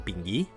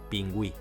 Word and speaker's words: pingüí: Per exemple, oi que no diem "pinguí"? Gràcies a la dièresi sabem que hem de pronunciar la u: pingüí.